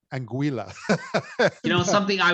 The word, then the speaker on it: Anguilla: I say this right, Anguilla. You know, And, something I was I was told all weekend that I was pronouncing it wrong. It actually rhymes with vanilla, so oh, okay. Anguilla. Anguilla.